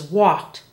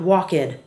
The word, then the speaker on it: walked: cared hope not hoped walk is the past tense is walked not walked and play is played